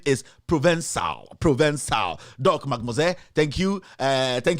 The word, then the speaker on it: Provençal: I see the name is pronounced Provençal. The C is pronounced S. Provençal.